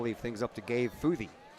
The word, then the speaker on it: Futhey: And that'll leave things up to Gabe Futhey. F-U-T-H-E-Y is how you spell it. I got that phonetically spelled too. Futh and E.